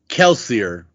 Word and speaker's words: Kelsier: is an easy one this is going to be kelsier which is more than Kelsey sure okay kelse that